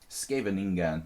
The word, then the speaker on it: Scheveningen: It's King Wiki, Satis Troll, Scheveningen, Geese, Scheveningen, if we want to say it correctly.